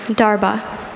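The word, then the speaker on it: Darbha: There may be an inclination to Darba. put an extra letter at the front. Darba. D-A-R-B-H-A. Darba. That is correct. Thank you. You put that silent H in the right spot, not the wrong Yeah, spot.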